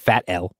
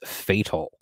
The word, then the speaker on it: F.A.T.L.: do i pronounce that it's fatal it's not fat l uh or anything like that um it's pronounced fatal it stands for flynn's